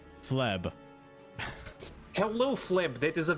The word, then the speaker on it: Fleb: How do you pronounce that again? Fleb.